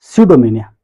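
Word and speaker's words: pseudomania: अब है सडोमेनिया इसका पी साइलेंट होता है।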